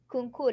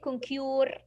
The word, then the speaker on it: conquer: Concours. You will not say concure. No, you will say concours.